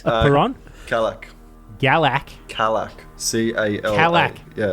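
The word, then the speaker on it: Calak: Kalak. Yeah, like a Cadillac, but without the D.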